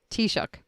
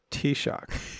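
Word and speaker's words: Taoiseach: The toich t-shock. T-shock. It's not how it's spelled.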